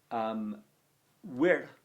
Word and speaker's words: vir: And then finally, vir, which means a man, very hard word to say that. If, like me, you can't roll your R's very well. It's a short I and a rolled R. Vir.